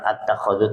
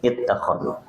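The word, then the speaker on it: اتخذ: memang seperti itu bacanya, jadi bukan at-takhadhu tapi it-takhadhu.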